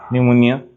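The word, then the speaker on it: pneumonia: এটা এক্সেন্টের ক্ষেত্রে মেইনলি হচ্ছে পিএস থাকলে কিন্তু পি এর উচ্চারণ হয় না। খেয়াল করছো কিনা? সুনামিতে টিসোনামি। নিউমোনিয়া পি নিউমোনিয়া।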